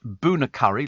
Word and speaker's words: Bunnacurry: A chill island pronounced Boonacurry, like the curry.